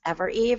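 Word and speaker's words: Evereve: really really terrible it's ever Eve EV v r evve which which is really if you spell it out on a piece of paper it doesn't look like it's pronounced ever Eve it's just a weird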